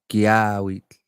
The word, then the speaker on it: Kiyahuitl: How you pronounce that? Kiyahuitl.